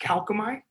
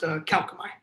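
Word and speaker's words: Kalkomey: So I've heard our company's name be pronounced all kinds of different ways, but our company's name is pronounced Calcomite.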